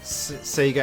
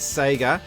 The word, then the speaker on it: Sega: sent me a personal message and he said don't let anyone make you pronounce Seager as Sega keep it true to your own country and I'm gonna he's